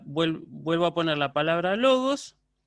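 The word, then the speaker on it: λόγος: acentos bien por ejemplo en el caso de logos yo yo diría logos y logos esa elevación tonal sobre la sílaba ahora en el caso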